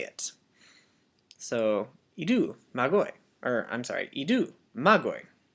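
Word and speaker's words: μάγοι: Except I probably should say magoi, because it has an acute right here. And it's not actually part of the letter, but it's part of how we stress the word when we say it.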